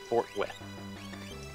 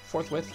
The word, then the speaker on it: forthwith: Yeah, certain events that shall be happening forthwith. I pronounced that horribly wrong. I actually admit that. Forthwith. Forthwith, that's correct.